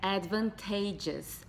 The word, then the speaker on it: advantageous: Muita gente acaba se embananando, mas a pronúncia é advantageous, advantageous. Então, o acento tá no T, tá aqui.